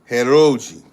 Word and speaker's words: Heroji: in its language okay her Roi okay that's how you say it it's heroi and for a group is